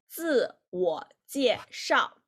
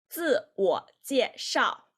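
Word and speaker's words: 自我介绍: It's 自我介绍. If you can see the right here about the pinyin, it will indicate how to pronounce these words in Chinese. 自我介绍，自我介绍 self-introduction, 自我介绍.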